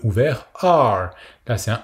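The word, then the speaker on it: 二: Le chiffre 2 se prononce R. Donc c'est un E très ouvert suivi d'un R. La prononciation qui ressemble un peu à l'anglais américain. Donc il faut bien faire le E très ouvert. R. Et le ton descendant, partir de l'aigu vers le grave.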